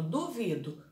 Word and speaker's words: duvido: E separando a sílaba, por exemplo, duvido, duvido. O do é a última, o vi é a penúltima e o do é antepenúltima. Então, a sílaba duvido, a mais forte, a vi, ela é a penúltima, então ela é paroxítona, tá bom?